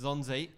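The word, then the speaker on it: Nzonzi: It starts with an N, but I think it's pronounced Zonzi.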